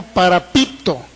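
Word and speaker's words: παραπίπτω: griega que se se se puede pronunciar como para Pipo para ppto p a r a p i p t o para Pipo Qué significa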